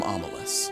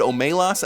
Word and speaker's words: Omelas: The ones who walk away from Omelas. When I learned it in 8th grade, my teacher pronounced it Omelas, and I recently learned it's probably pronounced Omelas.